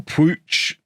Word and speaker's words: Puig: But people are telling me that if he's Catalan, which presumably he is because he speaks Catalan, if he's Catalan, it would actually be pronounced closer to something like Puig or Pooch.